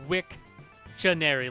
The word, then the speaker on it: Wiktionary: It's like Wikipedia, but Wiktionary, like dictionary, Wiktionary.